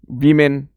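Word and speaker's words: woman: एमई N girl girls वुमन वमन इसे वुमन पढ़ा जाएगा ऐसे वमन और इसे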